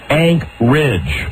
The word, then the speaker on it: Anchorage: And they said, no, it's not Anchorage, it's Anchorage. Anchorage. That's how locals pronounce it, Anchorage.